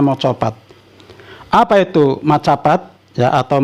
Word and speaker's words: Macapat: hasil sastra Hai yang dinamakan Mocopat atau tulisannya Macapat ya saya biasa membacanya Mocopat Apa itu Macapat ya